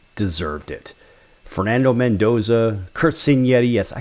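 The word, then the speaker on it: Cignetti: Fernando Mendoza, Kurt Senetti. Yes, I call him Senetti because that's how it's pronounced in Italian, not Signetti.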